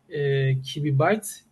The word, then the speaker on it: QB Byte: I should correct here it's pronounce kiwib bytes mostly most time people get confused about gbq sorry accident happens a